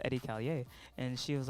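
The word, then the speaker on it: Edi Callier: was like oh yeah so it's pronounced eddie callier and she was like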